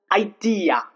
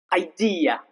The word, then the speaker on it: idea: For example, idea, idea. Okay, here both are pronounced real.